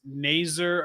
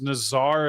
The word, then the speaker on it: Nazar: It's Nazer apparently, but it was Nazar until suddenly Yeah. the NTDP commentators started calling him Nazer, and then that caught on and everybody was calling him Nazer.